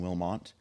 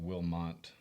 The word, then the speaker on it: Wilmot: There's no N in Wilmot.